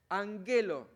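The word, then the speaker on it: ἀγγέλλω: verbos en presente tenemos Angelo recordemos que las dos gamas hace que la primera suene nasal an pero se escriben con dos gamas Angelo significa anunciar apostel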